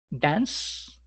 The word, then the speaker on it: dance: Dance, que termina en dan, se escribe dance con C, pues esa E no suena, la quitamos y diríamos dancing.